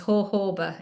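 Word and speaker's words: jojoba: Um, a good one, a go-to one is hoba. It's spelled joba, but it's hoba because it's more like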